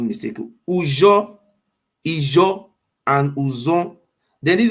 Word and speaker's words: Ujo: Ujo is 3 words how pronounce it. Ujo, U-J-O.